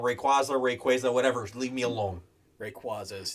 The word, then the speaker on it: Rayquaza: Rayquaza, whatever.